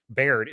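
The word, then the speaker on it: Baird: character like Lucy bird beard it's because her name is spelled beard but she says bird in the mov whatever uh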